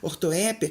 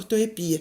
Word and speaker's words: ortoépia: nome dessa parte aí ortoépia ela pode ser pronunciada de duas maneiras diferentes ortoépia ou ortoepia então é isso é